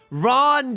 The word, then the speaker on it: Ron: Oh, you Ron does not rhyme with gone. Why are you saying gone and then wrong?